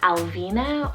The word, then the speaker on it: Alvina: one means desired a two-parter here i have alvina or just vina a-l-v-i-n-a or just v-i-n-a and